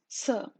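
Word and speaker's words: నిరాశ: It is pronounced without touching the tip of the tongue to the lower teeth, just like a hissing sound, nirasa, sa.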